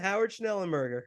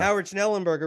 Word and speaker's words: Howard Schnellenberger: Howard Schnellenberger.